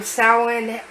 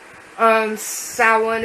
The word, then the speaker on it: Samhain: the word salad um even though the the word sounds different it is traditionally kind of spelled the same way most of the time I'm salen is um the the